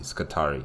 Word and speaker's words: Skitarii: I was really worried about that, whether I pronounced, that organization correctly. Skitarii, yes.